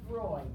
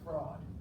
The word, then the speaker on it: Freud: Sigmund Freud, S-I-G-M-U-N-D, and it's Freud, F-R-E-U-D, and it's not pronounced fraud, okay?